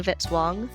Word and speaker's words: Vitzwong: Music by Kevin Vitzwong, rhymes with hit song.